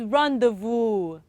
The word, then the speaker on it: rendezvous: oh keep guessing so let me tell you how it is being pronounced is rendezvous how did i pronounce that rendezvous again rendezvous okay the next one c-h-e-z